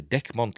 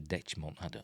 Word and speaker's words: Dechmont: Is it Decmont or Dechmont? I say Decmont.